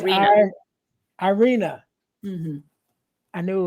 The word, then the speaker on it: Iryna: I want to say Ira. It's not Ira. It's Iryna.